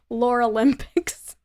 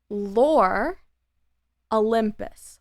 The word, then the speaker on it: Lore Olympus: Lore Olympics. Okay. Lore Olympics. Oh my god, I said it wrong again. Lore Olympus.